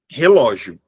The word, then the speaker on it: relógio: Imagina que você vai dizer relógio. Imagina que você pegou essa palavra aqui, ó, relógio, tá? Essa palavra, ela é uma palavra paroxítona terminada em ditongo.